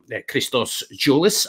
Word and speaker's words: Christos Tzolis: But tell the Hodge on Nodge listeners why you can tell us about Christos Tzolis and Dimitris Giannoulis, and correct my pronunciation first off.